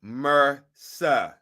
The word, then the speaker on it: MRSA: title of this show pronounce m-e-r hyphen s-h-a mursa okay it stands for